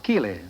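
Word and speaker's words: Keighley: ancestors came from the English town of Kiley k-e-l-e-y no spelled like my own name k-e-i-g-h-l-e-y I understand Margaret you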